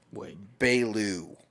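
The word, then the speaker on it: Beaulieu: It's Bailu.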